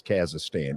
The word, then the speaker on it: Kazakhstan: Yeah, it is Kazakhstan.